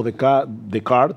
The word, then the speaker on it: Descartes: Hay siglos allí, grandes pensadores como Descartes, para pronunciarlo correctamente, o Hume, o Kant, y hablaremos